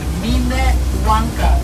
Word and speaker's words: Minnewanka: Minnewanka. That's the proper pronunciation, not the mini.